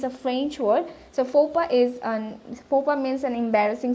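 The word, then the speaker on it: faux pas: So, আমাদের প্রথম যে ওয়ার্ডটা ছিল সেটা ছিল FOPA is okay. FOPA meaning হচ্ছে it's an embarrassing situation. It's a French word. So FOPA is FOPA means an embarrassing situation.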